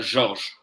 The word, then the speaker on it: Georges: En francés se pronuncia Georges, ¿Y en inglés qué les pero dices?